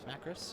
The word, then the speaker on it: Macris: Macris, yeah.